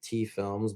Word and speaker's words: T Films: It's just T Films, but T is spelled Thee. It's pronounced like tea the drink though.